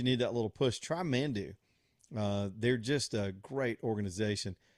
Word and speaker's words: Manduu: It's Mandu. Put 2 U's in there when you spell it.